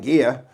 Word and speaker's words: Anguilla: I was told by the natives that's how you pronounce it, Anguilla. Anguilla? Anguilla. Anguilla? With an accent. I'm so sorry, not Anguilla, Anguilla. Yeah. I just I just assumed the double L would be ya.